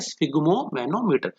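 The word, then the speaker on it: sphygmomanometer: की मदद से नापते हैं वो कहलाता है स्फिग्मोमैनोमीटर। ठीक है, तो स्पेलिंग थोड़ा ध्यान से देखेंगे, इसकी बहुत बार बच्चे स्पेलिंग गलत लिखते हैं, तो इसको प्रोनाउंस भी सही तरीके से करेंगे, स्फिग्मोमैनोमीटर।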